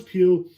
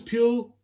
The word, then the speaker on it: Pugh: concept of the trailer intrigued me, it's Florence Pugh herself, because Florence Pugh, or how you say her name is, Florence Pugh, who I do like.